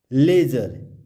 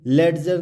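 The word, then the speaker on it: ledger: लेजर, ये लेडजर नहीं पढ़ेंगे, इसको हम लेजर पढ़ेंगे क्योंकि डी के बाद क्या आ रहा है?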